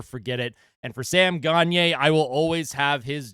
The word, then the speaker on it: Gagner: teenager, I'd wear that Gier jersey to school. kids used to make fun of me. They'd they'd purposely mispronounce his name and and call him Gagner instead of Gier.